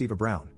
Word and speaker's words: Eva Braun: She asked why not, and I reminded her of the historical figure Eva Braun, which is pronounced Eva Brown, the wife of the person who started World War II and probably one of history's most evil figures.